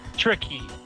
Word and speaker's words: Tricky: this game which came out in 1997 it's pronounced Ricky by the way tricky okay tricky tricky was on this game back